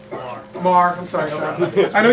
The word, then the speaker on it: Maher: And Sean is a, did I pronounce it correctly? Maher.